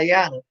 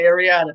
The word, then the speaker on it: Ayana: See, you said her name wrong. I'm talking about Ayana. Ayana is in the Bronx. Y'all heard me say Ayana. Ayana. My people coming from yeah. And you didn't say Ayana. You said Ariana.